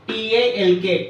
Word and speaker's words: talk: e i g n here the letter g is silent Talk t a l k talk here the letter L L is silent